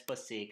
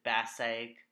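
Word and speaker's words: Passaic: across the pacific river yes pasek i know one in my earlier web use i pronounced it passage i'm sorry it's so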